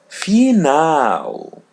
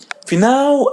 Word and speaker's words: final: L in English but when it comes in the end we pronounce it as W. For example the word final final final which means final.